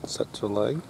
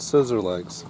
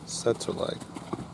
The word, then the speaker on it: Tsetserleg: This is Boyd Martin and Setzer Leg. Not scissor legs, Setzer Leg.